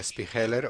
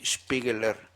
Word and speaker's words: Spiegler: Do you say Spiegler or Spiegeler? Alemán y en alemán se dice Spiegeler.